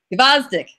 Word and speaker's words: Gvozdyk: Gvozdyk. Please pronounce it right, because the way it comes off, it makes me feel uncomfortable. Gvozdyk.